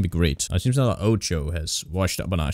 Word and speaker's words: OTXO: Yo, what's up everyone, and welcome to a game called OTXO. That's how to pronounce it, I'm not making that up.